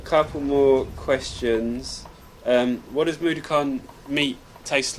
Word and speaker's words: Mudokon: Actually, everything tastes like Madukan. Everything tastes like Madukan. I'm saying it wrong, aren't I? Which came Mudokon.